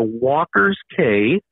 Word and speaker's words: Walker's Cay: Well, if anyone is interested, our website, you can go to Walker's K, and K is spelled with a C. It's C-A-Y, walkersk.ca.